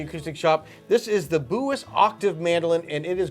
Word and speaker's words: Bulas: Pronounced different than it looks to us in the U.S. It's B-U-L-A-S. But you say that Bulas is what I understand.